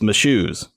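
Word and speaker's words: Mashoes: I just spelled it of course you just got to think my shoes those are my shoes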